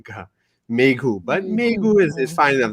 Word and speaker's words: Mayhew: is it Mayhew or what's the correct Pronunciation? pronunciation? Megu is the way to Mayhew. Okay, Mayhew. Yeah. I just want to make sure we have. Yeah, I know a lot of people say Mehu, but it's Megu.